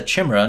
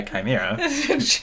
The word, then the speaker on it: chimera: It's a chimera, not a chimera.